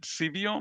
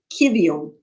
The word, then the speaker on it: civium: And I do see in the album, I don't know how to pronounce it, Civium? I'll help you. Kivium, Kivium. Kivium.